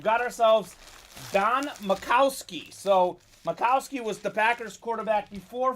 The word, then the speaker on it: Majkowski: that's how it's pronounced looks like majkowski but it is makowski congratulations don on your